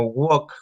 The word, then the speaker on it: walk: Cuando también dicen caminar en inglés, se escribe walking, pero no se pronuncia el L, entonces dice walking o walk.